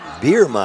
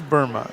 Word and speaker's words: Burma: Birma, I think is the way they pronounce it, isn't it? Nope, this is Burma.